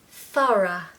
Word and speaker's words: thorough: drought number eight thorough thara what a horrible word gosh look at all those letters o r u o u g h y okay so let's make it easy it's just two syllables first of all to